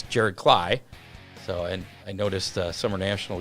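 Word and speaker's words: Klay: Steppen, was pronouncing it Clay. It was like... Uninformed. That's all right. I mean, I mispronounce names all the time, so I couldn't really say anything. And it looks like Clay, but Jared Cly will be with it.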